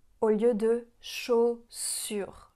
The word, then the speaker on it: chaussures: Ce qu'elle pourrait améliorer, par exemple, c'est qu'elle dit chaussures au lieu de chaussures. Chaussures. Rappelez-vous que la lettre U, ça fait le son U.